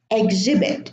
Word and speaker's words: exhibit: Exhibit. It's not exhibit or exhibition. Time, exhaust, exhibit, exhibition. Vehicle. The H is silent, and we pronounce the I as if